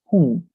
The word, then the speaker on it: whom: Remind the pronunciation as whom, as if you were saying jungla, whom.